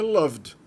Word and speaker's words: loved: No passado eu nem vou mostrar aqui porque é loved. para todas as pessoas. Loved. Coloca um ED no final e na pronúncia é só o D.